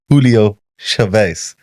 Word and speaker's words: Julio Chavez: On today's episode, we have Julio Chavez. I pronounced it right.